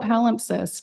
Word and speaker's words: palimpsest: How do you pronounce it? Gabrielle. No, the word palimpsest. Oh, palimpsest, yeah.